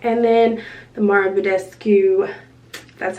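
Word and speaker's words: Mario Badescu: eye that I really like, and then the Mara Budescu, that's how you say it, the facial spray.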